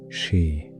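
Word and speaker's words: sídhe: And in those thin places lived the seed hay pronounced more or less as she.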